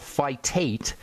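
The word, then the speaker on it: phytate: And then sometimes people will call it fitate, which is slightly different. PH hy fitate. Uh but they're they're kind of used those are interchangeable terms. Phytic acid phytic phytic and then acid and then a phitate phy t a te fitate.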